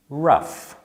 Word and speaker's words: rough: rough though drought and which one rhymes with stuff that would be rough and which one rhymes